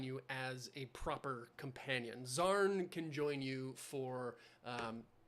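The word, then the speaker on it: Xan: Fashion the answer I was looking for was zarn spelled x a n I think um gorus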